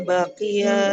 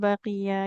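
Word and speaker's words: بَقِيَ: Nggak boleh baqiyah ya.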